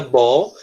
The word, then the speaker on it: ball: Where is the ball? Só lembra que a gente pronuncia ball como se fosse um O, mas a escrita é com A mesmo, tá certo?